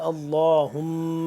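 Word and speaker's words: اللّٰهُمَّ: جوڑ توڑ کرنا اس کو سیکھتے ہیں، اور تلفظ ٹھیک کرنا۔ اللہم صلی علی اللہم، حمزہ لام زبر اللام کھڑا زبر لا، اللہ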